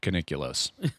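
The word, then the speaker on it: Keniclius: his name was stavos caniculus coniclius some actors pronounce it coniculus it's like nuclear uh yeah um and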